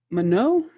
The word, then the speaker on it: Manon: Manon, did I say it right? Yes. Yes, Really well.